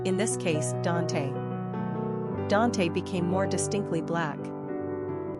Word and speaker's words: Donte: Quick facts on Dante Gender, Boy Origin, African-American Number of syllables, 2 Ranking popularity, 914 Pronunciation, Dante Simple meaning, steadfast, enduring Characteristics of Dante The